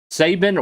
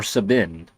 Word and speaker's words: Sabin: oh yes uh saban or sabine depending on how you want to pronounce it i'm sure he's a